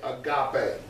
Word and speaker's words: agape: The pronunciation of it is A-G-A-H, pay. P-A-Y. Pay, agape.